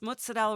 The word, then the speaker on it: mozzarella: raised her kids in Cleveland, and she said, "Can you please pronounce it correctly? It's mozzarella ricotta."